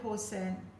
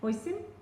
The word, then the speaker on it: hoisin: Get a little bit of horse sand. Horse sand, is that how you say it? Hoisin? Yeah, sauce.